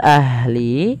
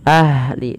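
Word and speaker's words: أهل: Pada lafal ahli alirkan nafasnya ahli. Dan jangan sampai memantul dalam lafal huruf ha.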